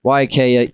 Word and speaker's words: Waiakea: And we've been saying the name wrong. Now we're saying it right. Waiakea, even though Waiakea does,